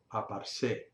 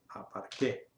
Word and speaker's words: aparqué: Así que si yo simplemente pongo aquí esto, parece que está bien, pero si yo lo pronuncio, el resultado es aparse y debería ser aparqué.